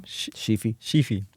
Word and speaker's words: Sheefy: So, because he was talking about, he just did a collab piece, a mural with how do you pronounce his name? Sheefy.